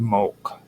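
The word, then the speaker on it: molk: Um now there uh are steely inscriptions in the tophits that often mention mulch uh which is MLK. The best way to pronounce it in our terms is M O L K.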